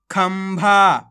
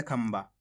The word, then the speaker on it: खंभा: की मात्रा खम भा खंभा देखो यहां पे भी अपन ने आधा मा का उच्चारण करा है कैसे खंभ इस प्रकार से पढ़ा अपन ने खंबा वो क्यों पढ़ा है